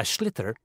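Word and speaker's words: sliotar: you have to get this ball called a schlitter that's s-l-i-o-t so it's not spelt the way it's pronounced you hit it into the net for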